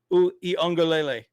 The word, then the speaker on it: Uiagalelei: DJ Uiagalelei.